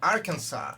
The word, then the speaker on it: Arkansas: No S. Arkansas.